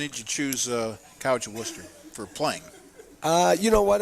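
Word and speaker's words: Wooster: that's how you say it, the College of Worcester. That is correct. To play football and get a great education there as well. And what when did you choose College of Worcester for playing?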